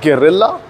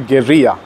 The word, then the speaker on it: Guerrilla: out and test ride the new Royal Enfield geria well that's the reason I was speaking it in Spanish Because the actual pronunciation of the word it's not gerilla it's actually Gera but yeah here in India we are going